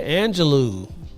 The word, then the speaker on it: Angelou: Cage Bird Sings and last name rhymes with xanado do would be Maya Angelou wow he pulled that